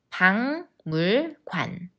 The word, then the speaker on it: 박물관: 우리나라 국민들은 불행하다고 느낄까요 do you see the same change like 국민 Yes it 방물관 박물관 박물관 런던에 가면